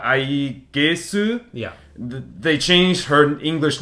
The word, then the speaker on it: Aegis: Because if they used the historical like uh A E A E G I S then it would be Aegis Eegis? It would be Eegis, I think. But since the Japanese they call it like it's ah I gesu Yeah.